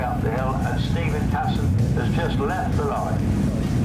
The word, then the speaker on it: Casson: Stephen Casson, that's how he likes it pronounced.